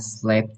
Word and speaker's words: slept: Need need to hear that T sound at the end.